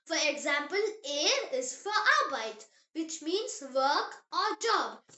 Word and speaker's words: Arbeit: Arbeit. It means work or job. Meine Arbeit macht Spaß. My job is fun. B, pronounced as bay, just like the English letter B.